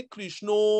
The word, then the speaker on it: कृष्ण: Actually कृष्ण जो हम बोलते हैं ना, कृष्णा वो नहीं है, इट इज कृष्ण कृष्ण, Hare कृष्ण कृष्ण कृष्ण Hare Hare, Hare Ram राम Ram Hare Hare.